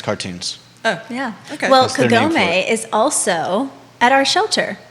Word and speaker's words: Kagome: look it up and i looked up the pronunciation as well so uh it's kagome yeah right we're calling her and it is